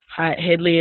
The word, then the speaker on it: Hewgley: I was like, yeah, Hewgley.